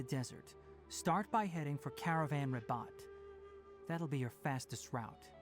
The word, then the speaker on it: Caravan Ribat: Caravan Ribat.